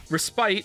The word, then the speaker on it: respite: with wine PR pristine respite is pronounced as if there were no e combat is combat Finance